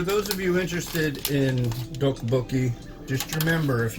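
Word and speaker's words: tteokbokki: of you interested in do bookie just remember if if you want to say it right it's considered the Double T or the Double D It's like a hard hard D or soft t d d yeah and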